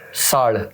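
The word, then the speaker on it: salle: साल। साल आपने बोला है, साल में जाइए। बट अड़ को नहीं, बट ल है उच्चारण।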